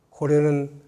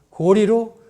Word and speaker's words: 高麗: 그래서 하루빨리 이것은 교과에서 고구려는 고구려로, 고려는 고리로 바꿔야 한다고 생각을 합니다. 자, 고구릴 1000년, 고려 500년간을 리자라고 읽었는데 불과 조선시대 몇백 년 전에 잘못 읽은